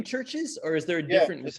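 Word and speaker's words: CHVRCHES: to pronounce the name churches or is there a difference between scientifically speaking yes no but what did you consider what did they consider the pronunciation of their band name to be churches okay oh my gosh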